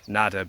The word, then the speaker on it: adder: Its name comes from the Old English word for serpent, which was nadder, similar to the Welsh nadir. It became known as an adder through a mispronunciation comparable to newt from the Middle English. So an newt became a newt, a nadder became an adder.